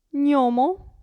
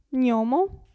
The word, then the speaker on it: gnomo: maglia abbiamo poi il gruppo gn si pronuncia ni gnomo gnomo e magnete magnete quindi la g